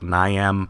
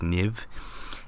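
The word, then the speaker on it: Niamh: Parsons um that's it's looks like Niam Parsons but I think it's pronounced NIV and um she's a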